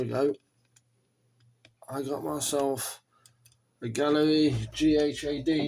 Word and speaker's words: Ghaaleri: to put the Galler Gallery yes Gallery I'm told you pronounce it Gallery when I I would I would want to pronounce it Galler or G any who it's as